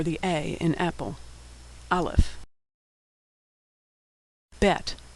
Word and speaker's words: bet: Bet, which is pronounced B as in boy, or V as in victory.